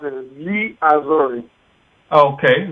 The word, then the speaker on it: Gli Azzurri: It's hard to pronounce it as Gli Azzurri. Okay, Gli Azzurri.